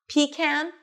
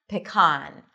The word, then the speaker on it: pecan: Pecan, pecan.